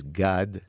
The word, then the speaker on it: Gad: my last name everybody all Americans will say sad you just extend the a but the proper way to say it it's God side sad right it's the